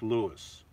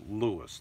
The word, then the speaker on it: Lewes: when I was there they told me it's pronounced like Lewis it looks like it's yeah like you have here le w es but the pronunciation is Lewis that's what they told